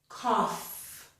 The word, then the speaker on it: cough: Now this is the first one in the group where we do pronounce the letters GH. They are not silent. This word is cough. It has a f sound, the letter F or the f sound at the end of it. And to make that sound, I just lightly put my upper teeth on my lower lip.